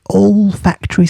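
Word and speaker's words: olfactory: It's like factory. You know where Nanny used to work but with O L at the beginning.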